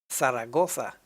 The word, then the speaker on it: Zaragoza: th while cellona actually the z is pronounced like a th as well so zaragoza barcelona is it it